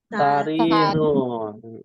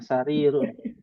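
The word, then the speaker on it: سرير: Apa itu bacanya? Sariyur. Sariyun. Sarirun. Ya, agak kepleset sedikit. Ya, sarirun.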